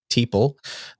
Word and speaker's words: Teeple: So I got him, his replacement, or potential replacement, the one he's backing, Teeple, rhymes with people.